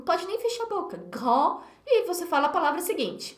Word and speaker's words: grande: Le féminin, aí é só acrescentar um eu depois, e aí eu passo a pronunciar a consoante que veio antes. Grande, petite.